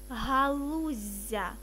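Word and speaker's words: галуззя: Дві однакові літери вимовляй подовжено. Зілля, насіння, галуздя.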